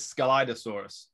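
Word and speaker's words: Scelidosaurus: that's correct next skeletosaurus or shalitosaurus this is skeletosaurus that's the pronunciation yes that's an early jurassic armored dinosaur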